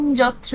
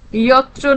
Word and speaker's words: যত্র: বল, ইয়ত্র নারী নিমুত্তই। ইয় ইয় জ নয়।